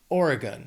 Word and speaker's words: Oregon: 3 syllables, stress is on that first syllable. Oregon. That last syllable sounds like gun because it's unstressed, so it's just Oregon.